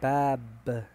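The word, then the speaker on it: باب: Cómo se lee Cómo se dice se dice bab B a a b b b que es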